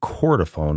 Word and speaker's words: chordophone: sale, which he referred to throughout as a chordophone. I think I'm pronouncing that right.